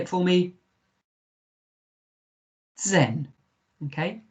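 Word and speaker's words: zehn: version number is das say it for me zen okay zen zen and us is numa 10 good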